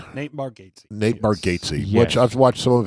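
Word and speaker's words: Bargatze: It's that Borgghazi guy, right? Is that how you say his name? Nate Margates. Nate Bargatesy, which I've watched some of his his comedy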